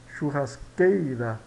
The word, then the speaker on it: churrasqueira: Então nós verificamos, portanto, que trata-se de uma palavra paroxítona, ou seja, a sílaba tônica mais forte é a penúltima, né? Kei, churrasqueira.